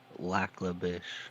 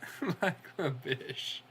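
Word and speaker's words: Lac La Biche: Lacabish. Lacabish. Nice. There's the full Canadian pronunciation. That's That's how it's supposed to be.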